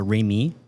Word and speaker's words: Ramie: Is it emphasized in the last syllable? So, Remy. Remy.